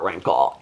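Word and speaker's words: Renkl: But I was talking about the book, The Comfort of Crows by Margaret Rinkle.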